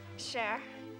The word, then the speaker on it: Cher: Cher. It kind of rhymes with Claire.